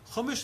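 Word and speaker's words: חומש: Chumash, anybody know what that word rhymes with? Chamesh. Chamesh is 5.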